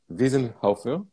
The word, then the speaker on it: Wiesenhofer: So I have the pleasure to welcome, I hope I will pronounce it well, Markus. Markus Wiesenhofer. Wiesenhofer?